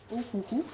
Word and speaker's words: Ohuhu: Ce sont des crayons Ohuhu, comme ça qu'on prononce.